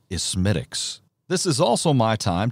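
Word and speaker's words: Smithwick's: gate brewery in dublin the ale is often mispronounced in america as smithwicks if one of your friends foolishly sidles up to the bar and incorrectly orders a smithwicks it's not exactly fighting words but very nicely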